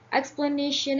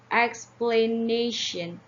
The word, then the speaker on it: explanation: we could see here explanation has four syllables that's X the nation explanation and also it comes